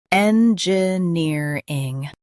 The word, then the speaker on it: engineering: Emphasize near and keep N soft.